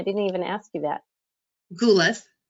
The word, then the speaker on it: Goulis: last name i didn't even ask you that ghoulis ghoulis okay so she's gonna share her book with